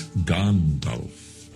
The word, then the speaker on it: Gandalf: And it's Gandalf, not Gandalf.